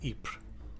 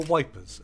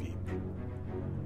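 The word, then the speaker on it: Ypres: upon the battlefield around ipra or wipers as the Tommy's mispronounced and knew it the smell of death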